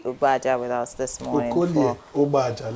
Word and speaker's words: Okolie Ubaja: Let me teach you how to say it in Delta. Okolie Ubaja. Say it. It's okay. Actually, there are three vowels. There are three vowels there, but because of contiguity, one will assimilate Okoli some.